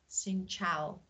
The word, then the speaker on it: Xin chào: So Xin Chao. Am I right? It's quite good. Good. So I have chance. Xin Chao.